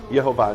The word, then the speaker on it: Yehovah: Shva cholam kamatz in Hebrew. Yehovah. Now you could say they didn't know what they were talking about. Like Shiva, cholam kamatz pronounced like o, a. And or look, there's different Hebrew dialects. In some Hebrew dialects, the kamatz is aw, right? So it could be Yehovah, right?